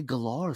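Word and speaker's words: Gellar: Lee Cook Sarah Michelle gal galor galar however she pronounces it I've heard her say galar sometimes I don't know it's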